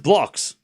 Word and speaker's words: Blockx: It's pronounced Blockx.